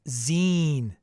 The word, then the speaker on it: zine: It's pronounced zine.